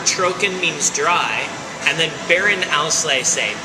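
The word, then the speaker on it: Beerenauslese: so that word troken means dry and then Baron Alay say b e e r e n a u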